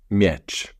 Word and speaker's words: miecz: And in Polish we say miecz.